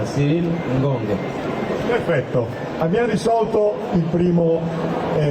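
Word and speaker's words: Cyril Ngonge: Si pronuncia Cyril Ngong.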